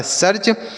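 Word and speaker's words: search: एस इ ए आर सी एच। तो एस से पढ़ते हैं स। इ ए का उच्चारण होता है बड़ी ई की मात्रा। लेकिन यहां पे बड़ी की मात्रा नहीं करेंगे क्योंकि इसके साथ आर है तो इसका उच्चारण अ हो जाएगा। आर से र और सी एच से च ये लिखा है सर्च मतलब क्या होता है?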